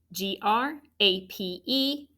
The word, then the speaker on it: grape: G-R-A-P-E and then S. Now, to mark it, grape is a vowel dash E word. So it has a long A and a silent E.